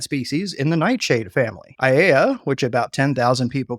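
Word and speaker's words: Aiea: And as for the pronunciation, I'm finding two primary pronunciations, Aeia and Aeia. The years I spent with my wonderful Hawaiian friend makes me lean toward the long E pronunciation, but I'm going with Aeia.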